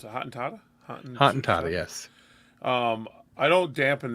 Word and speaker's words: Hottentotta: Well, my Hottentotta thing or whatever, how you pronounce it, Hottentotta?